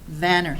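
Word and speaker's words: Vanir: Is it Vanner or Veneer? Vanner, excuse me.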